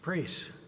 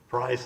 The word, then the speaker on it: Preis: Preis. If I mispronounced that, please correct me. Price is how it's pronounced.